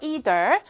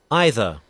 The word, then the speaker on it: either: Either 자, 영국 발음 어떻게 되나요? 어, 미안. 미안요. 다시 either. 어떻게 발음했죠? 다시 either. 그렇죠? 발음했는데이 사ound가 I로 바뀌면서 are 사운드 생략되고 either.이 출제가 되는 거.